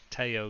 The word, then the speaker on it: Theo: got it sorry yes Theo ah now I know you mean Teo yeah of course yeah it's spelled Theo in English so I read it it's the you know